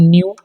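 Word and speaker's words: knew: इसे पढ़ते हैं न्यू, इन सभी में के साइलेंट होगा।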